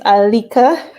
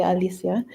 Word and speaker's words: Alicia: It's Alika. It's a common mistake to say Alicia. So, yeah, that's one thing about me. My name is always pronounced wrong.